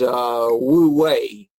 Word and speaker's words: wu wei: is a lot bigger than Taoism, which is Wu Wei, which is effortless effort, is what that's called. That's how you spell it, W-U-W-E-I.